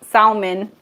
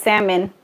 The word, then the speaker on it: salmon: I used to call it salmon, but it's salmon. I used to pronounce the L.